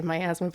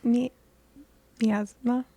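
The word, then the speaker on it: miasma: is covered in like as I like to say myasthma but Hannah said I'm pronouncing it wrong it's me asthma all right but well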